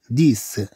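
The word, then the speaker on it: dix: طبعا لو بغينا نقولوا عشرات الكيلومترات نقول دي كيلومتر. هاد اس. هاد اس اللي هي في مكان اكس ما تتنطقش. اذا نقول دي كيلومتر. وكذلك عندما نضيف أشياء أخرى لكلمة ديس. أما لقرينا بعدها نقول ديس يعني عشرة.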